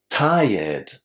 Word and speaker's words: tired: A lot of students see the ending r e d in that word and they want to say well the name of the color red. But we don't say it like this. It's tired. Tired. The reason why we don't say ty but tired is that tire is